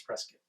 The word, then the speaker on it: Prescott: If you're local, it's Prescott. But it's Prescott. Like biscuit.